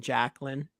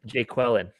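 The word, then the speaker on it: Jaquelin: first time someone says his name calls him Jacqueline. Jacqueline. First time it's actually Jacqueline. How you say it again, Casey? How's he say it? Jay Quellen.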